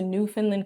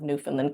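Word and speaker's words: Newfoundland: We were going to New Finland, Canada. I haven't even heard of New Finland, Canada. It's spelled like new found Land and I was like, what are we going to do there?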